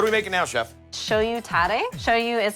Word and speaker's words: shoyu: Shoyu tare.